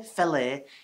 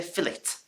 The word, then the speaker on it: fillet: You know, we don't say fillet in the UK. No, we say fillet.